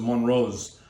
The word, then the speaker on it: Montrose: So today we're actually tasting a wine that's pronounced Montrose, and it's a very interesting property because it's in Estephe.